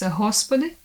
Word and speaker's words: Господи: In Russian language it's G, and in Ukrainian it's H. So, for example, word Господи in Russian, in Slavic language and in Ukrainian it's Господи.